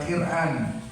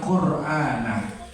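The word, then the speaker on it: قرآنا: yaqra fi'il mudhor qan Bukan dibaca quiran Bukan dibaca Quran tapi dibacanya qurana Kenapa dibaca qurana ini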